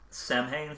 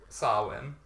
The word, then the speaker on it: Samhain: Um, they also do mention Sam hanging here. Sawin. It's pronounced absolutely not how it looks.